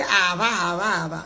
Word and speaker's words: Ava: By the way, people, my name is spelled AVA. That is why, you see, we saw in the local parlance, we always say, Ava. No, let me start to do the right thing. The people with that name, AVA, our pronunciation is Ava.